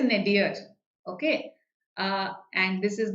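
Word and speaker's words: nadir: is the opposite yes the pronunciation here is nedir okay ah and this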